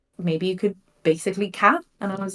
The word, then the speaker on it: BasicallyCatX: My friends all the time now will be like, oh, Basically Cat. Or Basically Cat. They call it me now. The X is silent, Yes, yes.